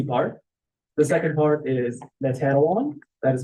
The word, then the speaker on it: Natanawan: The second part is Natanawan. That is spelled N-A-T-A-N-A-W-A-N.